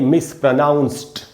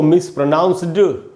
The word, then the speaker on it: mispronounced: अच्छा दोस्तों, ये जो वर्ड है मिसप्रोनाउंस्ड, ये इसमें एंड में डी है, यहाँ डी से ड नहीं बनेगा, ट बनेगा, इसलिए इसको हम पढ़ेंगे मिसप्रोनाउंस्ड। इसको मिसप्रोनाउंस्ड नहीं पढ़ना है, ड नहीं बोलना है, ट बोलना है।